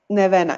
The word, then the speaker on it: Nevena: what is your name again my name is Nev Anna yes well you pronounce that note Nevada is it never never